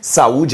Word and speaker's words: saúde: considerar o critério tonicidade saúde é uma palavra paroxítona e por que que ele é paroxítona porque a penúltima sílaba é a tônica quando lemos a palavra